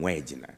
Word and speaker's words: Wagner: For us, we pronounce W as way, so we call them Wagner.